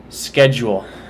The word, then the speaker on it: schedule: Schedule. Schedule. Sometimes I do it with just 2 syllables, sometimes I do it with 3. Schedule, schedule. But it's like a j.